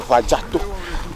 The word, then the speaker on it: Afadzato: So we said mountain Afadzato. Mountain Afadzato. Afadzato.